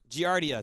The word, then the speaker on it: Giardia: of gr diocese is a real disease it's Giardia thank you giardia I can't pronounce no not right now yeah I did